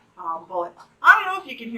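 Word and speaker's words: Bulleit: Now, I'm using Bullet, which I often use. How do you pronounce it? Like the ammunition, son.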